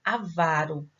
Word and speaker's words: avaro: Então, o avarento, o avaro, a sílaba tônica é a penúltima.